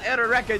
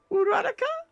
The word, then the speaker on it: Uraraka: Why could it not just have been him spending time with Eroreka doing the same thing, where their scenes together would have actually done something? Say her name again. Eroreka. Uraraka.